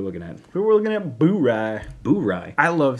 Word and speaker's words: Bourye: it on good authority that it is actually pronounced bury yeah uh so a blend of bourbons and